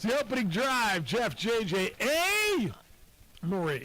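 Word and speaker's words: Amarie: Her name is A. Marie, like you spell it A-M-A-R-I-E, A. Marie. Yeah. Like kind of Marie with the letter A in front of it.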